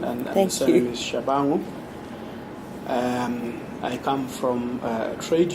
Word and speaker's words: Tshabangu: My name is for proper pronunciation, and the surname is Tshabangu.